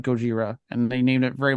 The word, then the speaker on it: Gojira: do like is that the creature is very much named Gogeta but the Americans Mis mishar that and saying what was that Godzilla all right we'll just call it that and someone's like no it's Gojira you like